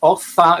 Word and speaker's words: Arthur: So yes, Arthur is the correct way to pronounce it.